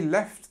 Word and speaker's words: left: they left the party early so pronunciation changed between past and simple leave is this e sound leave and then left is we have this uh this e sound here so e left so I leave home at 8:00 a.m.